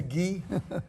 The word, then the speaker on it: gi: outfit you have on that's a ghee uh it's uh spell that gi gi okay GI it's a ghee it uh you know